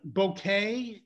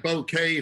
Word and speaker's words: bokeh: what i've read it seems like bouquet from you know from the japanese or something is the correct way but i don't care